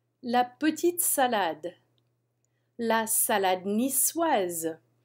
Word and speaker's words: niçoise: La salade niçoise. We pronounce that C like S because it has a CD on it. La salade niçoise.